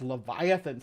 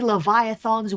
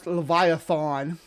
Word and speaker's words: Leviathan: America could it be leviathan's witchcraft behind I like how it's leviathon as far as I know it's Leviathan um the a is not pronounced that way but I don't know